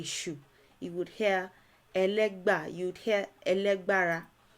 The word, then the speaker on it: Legba: it's somewhat like that it's a legway is a mispronunciation of a legba and elega is what